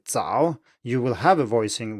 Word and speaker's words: 早: If you, for example, put your hand in front of your mouth and you say 早 and it comes out as 草, then you have actually pronounced Pinyin C instead of Pinyin Z. So this is called aspiration.